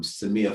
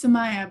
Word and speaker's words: Samaya: have a question here from samia um if i've pronounced your name wrong i apologize but please can you ask your question or i will ask it for you hi hi um no it's samaya but it's okay hi